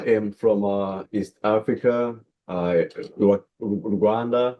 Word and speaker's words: Rwanda: Wanda, but I usually say Wakanda because it rhymes the same as Wakanda and the vision, the mission, it's like, you know, we're pushing how turn into Wakanda.